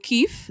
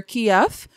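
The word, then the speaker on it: Kyiv: trying to go to keefe that's the capital and i'm saying kiev a lot of the times you hear kiev but kiev is the russian pronunciation and kiev is the ukrainian pronunciation and um yeah i'm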